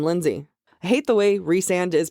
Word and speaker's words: Rhysand: I hate the way Rhysand is pronounced. That's fair. A lot of people think it's rice or rice-and.